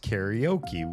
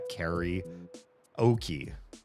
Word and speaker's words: karaoke: It's pronounced karaoke. We in America call that carry oki is ka ok koke.